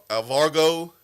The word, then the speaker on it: Alvaro: Alvaro. There's no G in there. Huh? There's no G in his first name.